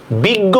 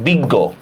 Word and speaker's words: বিজ্ঞ: বড় শিকায় বি, গ হসন্ত, গয় ওকার। গ থাকলে গয় ওকার, ঠিক আছে?